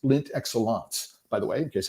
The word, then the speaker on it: Lindt Excellence: I've been pronouncing it wrong all the time. It's not Lindt Excellence. I saw a commercial, an ad for them on YouTube, and it's Lindt Excellence, by the way, in case anybody wants to